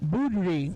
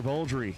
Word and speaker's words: Boldry: Taylor Boudry, right side, 648. Taylor Boldry killed down the right-hand side, the Boldry Racing team. Gotta pronounce the L.